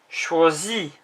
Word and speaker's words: choisit: Il, elle, on choisit. Sounds the same, but it's IT rather than IS. The T isn't pronounced.